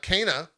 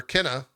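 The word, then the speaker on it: Kena: we got oh uh cana or kenna i think is the proper pronunciation uh bridge of spirits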